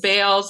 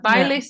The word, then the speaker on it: Bailes: Spanish oh really wow although we pronounce it Bales in English but by lace in Spanish wow you dance yeah